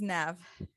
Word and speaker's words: Nev: just continue with you know my name is nev it's easier for people to pronounce now it's n-e-v not an av as